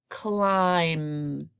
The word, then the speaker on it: climb: with a blend cool I climb as a silent B right here it's also unusual that